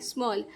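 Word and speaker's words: small: held a स्म ऑल स्मॉल ए जब एल के पास होता है तो हम इसको अ पढ़ते हैं इस तरीके से तो ये हो जाएगा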